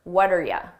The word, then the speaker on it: what are you: What are you sounds like one word. What are ya? What are ya? So the R just becomes and I attach it to what?